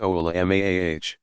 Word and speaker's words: ulama: commonly used singular of voluma pronounced oh allah mah is an individual who